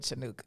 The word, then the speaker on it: Chanukah: i don't know what chanukah is if your throat don't hurt when you say it you're not saying it right way to taste the